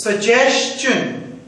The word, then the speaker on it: suggestion: I seek your suggestion the last Sy of this word would be stress as a CH so the right pronunciation of the word is suggestion if I say that